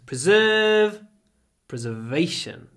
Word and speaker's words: preservation: a strong Instinct so here you can hear the difference between preserve and preservation the stress moves preserve preservation preserve preservation 268 you're not thinking